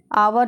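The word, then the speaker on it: hour: हॉट हॉट का मतलब होता है गर्म होटल होटल का मतलब होता है होटल या फिर विश्राम गृह आवर आवर में एच साइलेंट रहेगा आवर का मतलब होता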